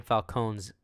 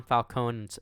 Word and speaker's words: Falcone: a nightclub operated by the Penguin, mobster Carmine Falcone's lieutenant. By the way, I noticed that in this movie they pronounced his name Falcone instead of Falcone.